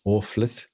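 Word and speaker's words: Orfhlaith: campbell how'd you spell how do you pronounce that irish dictionary orphleth or fleit oh sorry arla yeah o r f h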